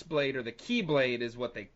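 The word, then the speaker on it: χ-blade: He gets the X Blade, or the Key Blade is what they call it in the game, but it's the X Blade is easiest to differentiate.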